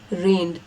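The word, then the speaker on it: reign: के कंफ्यूजन रें रेन यहां पे जी साइलेंट है रेन यह वाला जो वर्ड है आर ई आई जी एन इसको बोलते हैं रेन और यह पास्ट टेंस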